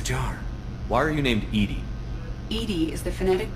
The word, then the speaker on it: EDI: airlock is a jar why are you named Ed Ed is the phonetic pronunciation of eedi that is an acronym for